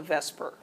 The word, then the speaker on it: VSEPR: letters to say and you can't really pronounce it but we call it Vesper um and that stands